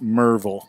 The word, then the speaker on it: Maryville: Mountains there's Tail of the Dragon no it's pronounced Merville marble a marble that's like shovel which is actually